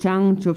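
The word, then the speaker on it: བྱང་ཆུབ: So this mind of love, or bodhichitta, in Tibetan it is Chang Chubsem, and Chang Chub, so 2 syllables, Chang and Chub.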